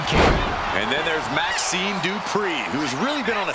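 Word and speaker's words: Dupree: Michael, it's pronounced Dupri.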